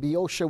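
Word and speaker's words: Boeotia: but he died eventually in the North in biosha Greece okay and biosha was spelled b-o-e-o-t-i-a is how you pronounce it in Central Greece that's where eventually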